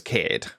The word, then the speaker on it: Kade: name is um so my name's Kade like that's how you pronounce my name it's based on um it's based on mans which is the Isle of Man Kade is a name from there I really like the sound